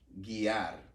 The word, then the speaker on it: guiar: For it sounds like a G with a U, this, for instance, would be guiar.